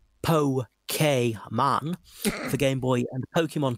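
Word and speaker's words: Pokémon: this fall of 1998 pokemon pronounced po k man for game boy and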